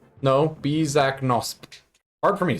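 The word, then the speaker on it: Bisaknosp: I'll spell it in a second. Give me a moment. Bizaknosp. B-I-S-A-K-N-O-S-P. Bizaknosk. No, Bizaknosp.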